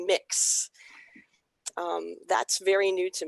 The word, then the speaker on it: Mx: it's pronounced this is an x-ray and accents pronounced mix um that's very new to me i just